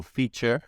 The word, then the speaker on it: Phiture: talk a little bit about you uh what's feature and what do you do there uh sure yes so I've been uh been doing the thing which we call feature uh with a Phi t-u-r-e it's it's kind